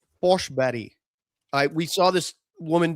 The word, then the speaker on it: Forsberg: Peter Forsberg is actually Foshberry.